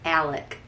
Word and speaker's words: Alec: um again and it's if you looked at it you'd think it was alex but south cacalac it's alec so alec murdoch um